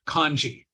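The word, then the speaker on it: 漢字: Japanese these are called kanji which is a different pronunciation of these same two characters now the Korean language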